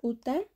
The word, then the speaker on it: uta: a continuación por ejemplo la palabra utta estaría llevando el acento en la u y su significado sería casa utennaka estaría llevando el